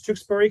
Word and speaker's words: Tewksbury: And first of all, Sharon, you did pronounce Tewksbury correct.